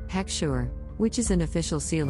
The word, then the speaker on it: heksher: This is a Hebrew word pronounced heksher, which is an official seal of approval of kashrut on food that is issued by a mashgiach.